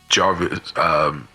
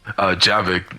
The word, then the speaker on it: Javik: and after that mission, that's when her and Jarvis, so how the fuck you pronounce his name? Yeah, Javik.